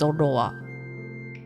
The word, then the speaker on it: Zorua: um the spelling but in Japanese it's zodowa so it wouldn't be the same it's pretty close I